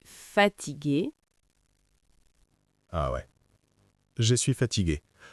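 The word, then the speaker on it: fatiguée: Ah ouais, je suis fatigué. Pour une femme, Anna, on écrit ça avec un e à la fin, mais à l'oral, la prononciation ne change pas vraiment.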